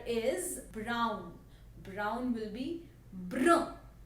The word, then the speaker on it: brun: Brown will be brun. Brun. It's little similar to brown, but the pronunciation and the spellings are entirely different.